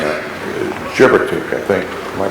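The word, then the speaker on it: Gebirtig: I think I'm pronouncing that. Gerbertik, I think.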